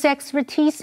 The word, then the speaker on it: expertise: 今天的第一个重点，我们看 expertise 这个不可数名词。PER 这个字根有尝试或通过的意思，所以 expertise 是指专业技术或专业知识。注意它的重音是在 ti 这个音节，念成 expertise。如果要说明在哪一方面的专业，是用 in 这个介系词。例如 With his expertise in software, Victor can find a job in no time.